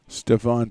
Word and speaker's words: Stephon: Stephon Foley, the official pronunciation.